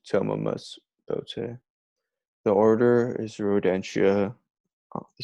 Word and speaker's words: Thomomys bottae: A lot of people will pronounce it thom Thomomys or Thomomys, but it's Thomomys Bottae.